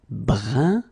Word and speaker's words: brun: Then another example, brun, brun, okay, fin, brun, fin. So you write it differently, but then you pronounce it like the first one. It's un, un, okay?